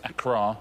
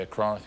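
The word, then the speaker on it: Accra: So, Acra, if we're going to be the pronunciation, please once again, it's Acra. A lot of people say Ara.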